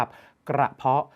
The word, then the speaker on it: กระเพาะ: กระเพาะ ขอ อภัย ครับ กระเพรา กับ กระเพาะ หลาย คน ออก เสียง ผิด อย่า เอา ก ไก่